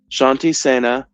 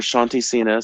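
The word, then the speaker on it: Shanti Sena: If you need peacekeepers, you yell Shanty Sena or Shanty Cena. Some people pronounce it differently.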